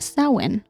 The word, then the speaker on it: Samhain: the Celtic celebration of Sinn which is not spelled like Sinn and I looked it up how to say it so about 2,000